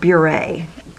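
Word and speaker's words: Beurre: And it's, I think you pronounce it Burr, but they pronounce it Bure. It's B-E, I think it's supposed to mean butter in French or something, someone told me.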